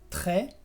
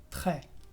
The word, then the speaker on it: très: Sí, por ejemplo, en las palabras très, que es muy, o près, que es cerca. Como lo ves, la S es muda y yo pronuncio près, très.